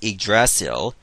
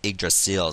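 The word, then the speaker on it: Yggdrasil: vain yeah i know in the tales universe it's pronounced igracial but in norse mythology it was pronounced iggrasil so that's why i'm pronouncing it like that wait i still have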